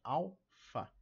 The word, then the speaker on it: Alfa: Alfa, alfa não é PH, hein? É alfa, alfa. Sílaba tônica na primeira aqui em al.